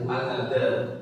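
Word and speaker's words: الهدى: Alhuda. Alhuda. Ah, betul. Alhuda. Alhuda gini ya. Alhuda panjang nanti bacanya karena ada alif bengkong ya.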